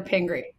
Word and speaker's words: Pingry: If I want to make sure I got the pronunciation correctly. East side. Wait, East side or Pingri?